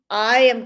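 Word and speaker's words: Oia: They call it Ia. That's how they pronounce it.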